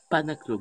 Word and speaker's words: Panaclock: Alors, si vous voulez rire un bon coup, et je vous le propose, c'est Jeff Panaclock. Vous l'écrivez comme ça se prononce.